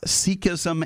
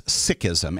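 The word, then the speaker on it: Sikhism: important thing there are folks out there who pronounce it uh seism and seeks um my colleagues and friends and Close Associates uh refer to the faith as sism s i k h i ASM and when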